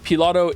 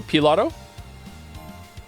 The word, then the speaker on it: Pilato: The P in Pilato is pronounced like the P on pizza. So Pilato. Not Pilato.